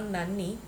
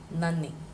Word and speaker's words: നന്ദി: That is not nanni, that is not nanny. I have used the double N to show that difference in that pronouncing na, na. It is na and the same na repeated. So na, ni, nanni. In Tamil, you tell nandri. Very closely related. In Malayalam, it is nanni.